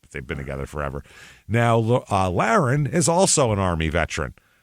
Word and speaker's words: Laron: So this is Laron, Laron, Laron, he pronounces it.